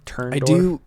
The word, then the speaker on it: Turndorf: The producer was Mark Turndorf, like Ganondorf. Turndorf.